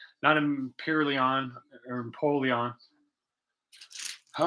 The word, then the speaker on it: Empoleon: Pokemon, whose name I had, not Imperileon or Empoleon.